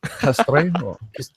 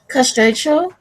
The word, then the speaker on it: Castrejo: Well, people still can't pronounce my alias, so Castrejo. Castrejo. No, Castrejo. Castrejo. No, I'm not Spanish. Not Spanish. Castrejo. Castrejo? Yes, that's it. Oh.